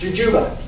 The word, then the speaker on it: jujube: It's technically pronounced Jujuba.